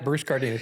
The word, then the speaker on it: Cardenas: Really interesting guest today, Bruce Cardenas. Am I pronouncing that right? Yeah, Bruce Cardenas, yeah.